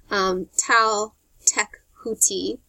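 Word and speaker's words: Tlaltecuhtli: day sun, or Yahutanatua, the night sun, and that's spelled Y-O-H-U-A-L-T-O-N-A-T-I-U-H, or the primordial earth monster, Tal-Tek-Huti, T-L-A-L-T-E-C-U-H-T-L-I, in the latter case representing the final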